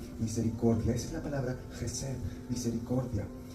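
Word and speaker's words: hesed: La palabra es jes se puede escribir como h e s e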